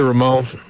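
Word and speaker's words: Ramón: I just say Ramon. But back when I used to speak Spanish. Oh, well, technically it's Ramon.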